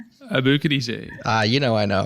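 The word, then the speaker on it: Aboukhadijeh: know I know how abuk DJ ah you know I know because it rhymes with DJ sounds like DJ yeah like you're booking a DJ yeah yeah you like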